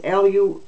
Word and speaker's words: Luhansk: dentist regions now I don't know if I pronounced those right that Luhan is l-u-h-a-n-s-k Regions luhansk and that done task is d-o-n-e-t-s-k